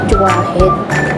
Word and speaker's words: Juwaher: Pero ang pronunciation yun Juwahed. Pero ang spelling niya Juwaher.